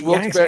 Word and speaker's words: Wilkes-Barre: I said it wrong for years, and it's Wilkes-Barre. Wilkes Barre, like the animal. hmm Okay. I thought it was Wilkes Barre or Berry.